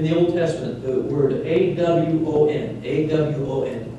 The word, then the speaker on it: awon: In the Old Testament, the word A-W-O-N, A-W-O-N, pronounced Awon, is consistently used for the rebellious nature of the human being.